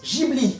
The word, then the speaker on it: Ghibli: l'origine les studios ghibli parce que oui ça se prononce gigli en japonais ghibli a été instaurée